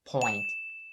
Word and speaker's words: point: in hot cars now the only word you should remember for your good pronunciation here is point remember how i talked about the importance of enunciating the n sound especially when it is standing in the middle of words before in this situation you do the same thing point point please don't say point point point because it's very different in the ear of native speakers and the second phrase